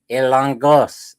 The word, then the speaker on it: Hilongos: Is it Hilongos? I know I'm messing up the pronunciation. When you look at the spelling, it looks like Hilongos, but they got that guttural thing sound going on. Ilongos.